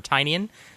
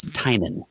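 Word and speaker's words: Tynion: ways so far but it's either tinian or tinan heard it pronounced both ways I think the definitive version I heard and this comes from the Benson sisters was tinan there we go James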